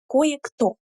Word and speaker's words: кое-кто: Here, the pronunciation is very interesting because we have actually kind of two emphasis, two stresses here. Кое, кое-кто. So here we have a little emphasis and then we have the main emphasis.